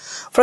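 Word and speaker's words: far: ফর okay so দেখেন British হচ্ছে ফা লাস্টে থাকলে আর উচ্চারণ করে না ওরা যেকোনো ওয়ার্ডের শেষে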